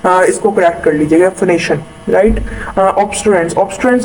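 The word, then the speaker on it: phonation: यूज कर दी थी, फोनेटेशन नहीं होता, फोनेशन होता है, सो इसको करेक्ट कर लीजिएगा, फोनेशन, राइट।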